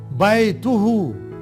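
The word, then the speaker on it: بيته: बैतुके, बैतुहु his house. बे के ऊपर फतहा, या के ऊपर सुकून, बै. ता के ऊपर दम्मा, बैतु हु.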